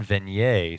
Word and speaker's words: Venier: And she said it is French, so it is Dan Venier.